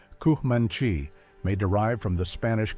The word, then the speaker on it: Comanche: The name kanchanchchi pronounced kmanchi may derive from the Spanish kamino ancho main road or the ute kontea one who wants to fight me.